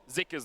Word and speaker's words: Zika: and it was pronounced zuka on the LPL English broadcast but we have seen some people saying that in Chinese it's actually pronounced more with an i zika so I think